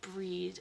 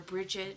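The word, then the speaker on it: Brigid: gonna be talking about the goddess breed or bridget or brigitte depending on how you like to pronounce it because everybody does a little bit differently um and then we'll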